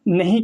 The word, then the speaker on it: know: के को हम उच्चारण नहीं करते हैं। के जो होता है वो एक साइलेंट लेटर में होता है। यहाँ पर के है, इसे किनो नहीं पढ़ेंगे, के साइलेंट रहेगा।